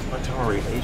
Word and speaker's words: Hatari: And even spell it. Slow. Simama. You see that male bushbuck next to the tree? Yeah. Atari.